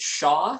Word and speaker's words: SHA: We pronounce it SHA, so you'll hear us talking about SHA a lot this evening.